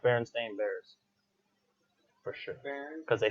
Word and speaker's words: Berenstain Bears: It is actually pronounced Berenstain Bears.